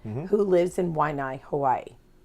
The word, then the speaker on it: Waianae: am speaking to Glenn Arakawa, who lives in Waianae, Hawaii. How do I do with those pronunciations?